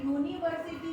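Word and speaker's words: university: एक अपवाद है कि जहाँ पे यू का प्रोनाउंसिएशन अ से आ रहा है वहाँ तो हम अ लगाएंगे, लेकिन अगर यहाँ पे मैंने यूनिवर्सिटी लिख दी, यूनिवर्सिटी, तो यहाँ पे यू बोल रहे हैं हम, नहीं बोल रहे,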